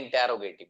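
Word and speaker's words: interrogative: देखिएगा ये जो वर्ड है, ये सामने आपको नजर आ रहा है, इसको लोग पढ़ते हैं इंटेरोगेटिव, है ना। हाँ, इसका जो प्रोनाउंसिएशन है वो आप करेंगे इंटेरोगेटिव, इंटेरोगेटिव, इंटेरोगेटिव, इंटेरोगेटिव, इंटेरोगेटिव, इंटेरोगेटिव।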